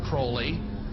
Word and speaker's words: Crowley: he likes to bring have his name pronounced crowley to rhyme with holy and the satanist today